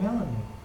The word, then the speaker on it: Melanie: - Why's your name Melanie? - Rhymes with "melody" See!